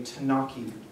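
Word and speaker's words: T'naci: you hiken you hear a story about a tanaki monster that's spelled t apostrophe n a c i tanaki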